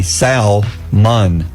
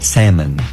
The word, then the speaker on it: salmon: use it I don't know it should be salmon but it's salmon what about Island yeah oh there's another one